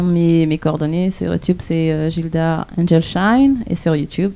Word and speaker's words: Gildas: Ah ouais, mais comme en Madagascar, on prononce pas les Non. As. Oh, des Gilda.